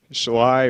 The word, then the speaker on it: Schley: favorite things to know July rhymes with Sly County they had to put it in the preview I think I'm responsible for that said slay way too many times um let's see so